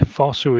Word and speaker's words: Fosu: Yeah, Fosu, yeah. Fosu. And Nsham. Again, I'm not sure if that's the correct pronunciation, but Celtic.